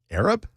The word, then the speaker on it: Arab: I said Opelika, and then the other one was, there's a town that is spelled A-R-A-B. Arab? It's Arab. Okay. And I said Arab, and I got well corrected.